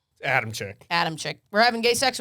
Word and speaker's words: Adamcik: Isn't it like originally pronounced like Adamcik? Adamcik? Yeah, we don't do all that.